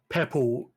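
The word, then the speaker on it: Poeppel: called pe's Corner okay is it Pebbles as in Pebbles uh Flintstone no it's um peble as in p o eou p e l oh oh purple Corner yeah that's one way you could pronounce it yeah okay but these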